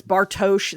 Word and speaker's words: Bartosz: Well, it was so difficult that because we know it's Bartosz.